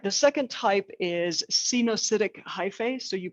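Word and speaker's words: coenocytic: pass through all right the second type is xenocidic hyphae so you pronounce it like this scene oh acidic acidic uh hyphae um so that's like one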